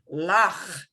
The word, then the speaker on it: Loch: This is kind of like the ch you get like in the Scottish word Loch Ness. Think of it, if a true person pronounces Loch Ness properly, it's Lach.